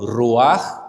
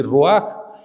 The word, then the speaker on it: ruach: Bueno, es una transliteración, eso es hebreo, pero se escribe ruach, lo escriben así como con che, pero se pronuncia así ruach, y en griego es